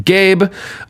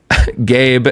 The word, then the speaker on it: Gabe: Gabe, and then I love they give a pronunciation key, and it just says, pronounce like the word gay, then you add a B sound. Wow. Thank you, Gabe.